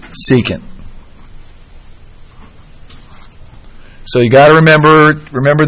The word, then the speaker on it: secant: cosine otherwise known as starts with an S rhymes with II can't secant so you gotta remember